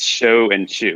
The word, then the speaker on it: Shochu: difficult word it is it's show and chew it's two verbs come on that's all it is yeah just think of it as s-h-o-w-c-h-e-w and if you pronounce it like that you're you're more than two-thirds of the way there no you're um 95